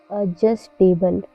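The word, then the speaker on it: adjustable: एडजस्टेबल, एडजस्टेबल में भी D silent है क्योंकि डी के बाद जे आया हुआ है।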